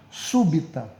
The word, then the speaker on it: súbita: Trissílaba, 3 sílabas e proparoxítono que tenha a sílaba tônica como sendo a antepenúltima. Então, nesse caso, seria a palavra súbita, certo?